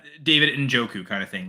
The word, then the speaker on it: Njoku: And so the N is silent, I'm assuming. Yeah, it's David Njoku kind of thing, like that type of pronunciation, Yama.